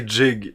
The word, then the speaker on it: gig: watts they also say jig instead of gig there you go i never noticed that because again here we say that the we say the the soft g instead of the hard g right gig is the